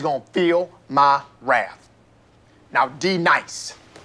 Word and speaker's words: D-Nice: Now, D nice. Do you mean Denise? Son of a bitch! You say your name right now. Denise? Say it right. Denise. Correctly. Denise. Right. Denise. Right. D-nice. That's better.